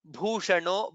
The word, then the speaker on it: भूषणो: Bhushano. Bha is again Mahaprana.